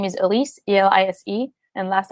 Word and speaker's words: Elise: active on social media and my name is Elise Elis and last name is